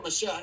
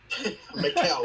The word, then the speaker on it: Michel: Is it Michael or Michelle? It's Michel. How do you pronounce that, Joey? You're from South America? Mikel.